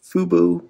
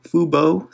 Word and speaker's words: fubo: take a look at fubu fubo sorry i always um say it wrong before i say it right but fubo you know my red